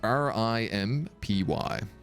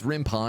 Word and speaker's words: RimPy: get out there so how is this spelled r-i-m-p-y rimpy it's rimpai because it's Rin python it's written in Python I believe this this